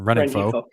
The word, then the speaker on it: Rengifo: I always get his name wrong. Rengifo. Thank you, Rengifo. I was pronouncing it wrong because I can never put all the consonants together.